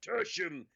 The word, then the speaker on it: Tertium: Is that Tertium in the background, Michael? What? Where? Are you on Tertium? Sorry, you've embarrassed yourself. It's pronounced tertium.